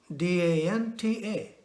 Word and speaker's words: danta: We have to use our teeth to pronounce the sound of the word danta. The tongue has to make an impact on the teeth.